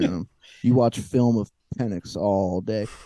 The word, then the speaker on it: Penix: You watch film of Penix all day. It's crazy too because sometimes the X is pronounced like an S.